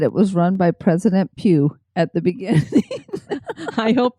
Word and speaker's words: Pugh: said it that way, and that probably is how you say it, is I actually had a friend in school, and that was her last name, was P-U-G-H, and it was Pugh.